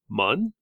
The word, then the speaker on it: Muun: Or the species is spelled Muun, so mun.